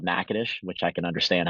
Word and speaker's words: Natchitoches: And he had said, "Hey, I have an athletic trainer who's in Louisiana, um, in a place," and he mispronounced the name, but it's called Natchitoches, which I can understand how someone may mispronounce that city name.